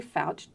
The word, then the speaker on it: Foucht: learn more yes fat calm so super simple and I think the spelling of my name is there so it cooks ouch rhymes with couch with the tea at